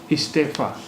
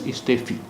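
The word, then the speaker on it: استعفیٰ: Istefa. It will not be pronounced as istefi, because there is khada zabar or alif. So istefa.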